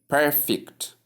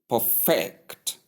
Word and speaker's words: perfect: Perfect. Perfect. Perfect. That is we have a force on per or the first syllable while the other one second syllable receives a shorter or slightly lower pronunciation.